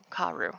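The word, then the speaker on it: Kaworu: I gotta check my guide here. Kauru. Karu. Hey, there we go.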